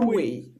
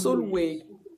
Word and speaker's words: Sulwe: Alors, le prochain livre, c'est Soul, je sais pas comment on prononce ça, Sulwe. Soulway. Mhm. Sulwe. Soulway, qui a été écrit par Lupita Nyong'o, qui est l'actrice kenyane que tout le monde connaît.